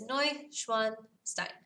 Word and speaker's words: Neuschwanstein: for it all right so there's how you spell it I know it's kind of long but it's no schwanstein now the word for Castle in German is